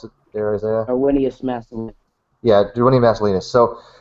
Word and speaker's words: Darwinius: Darwinicus macellus, is that how you pronounce it there, Isaiah? Darwinius macellus.